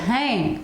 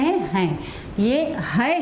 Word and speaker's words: है: हैं यह एग्जाम में दो मात्रा इस लेस को हाय पढ़ा जाता है हम्म लेकिन अधिकतर हमारे शुद्ध उच्चारण की वजह से इसको लिखते भी गलत है हम क्या पढ़ते हैं इसे हे तो है नहीं है यह क्या है इसमें दो मात्राएं है इसलिए हमेशा हाय पड़े और जब इसके ऊपर